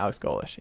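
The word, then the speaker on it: Golesh: fans feel about that it's fine Alex golish pronouncing that right yeah Alex golish he was great uh I think he won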